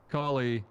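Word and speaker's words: Calais: How is it pronounced? Collie.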